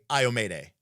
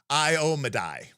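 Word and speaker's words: Iomedae: I say Iomede. No. Yeah, I say Iomede. And apparently it's Iomedai.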